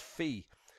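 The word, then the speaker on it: phi: where that later is not pronounced fire it's pronounced fee because that is I think closer to the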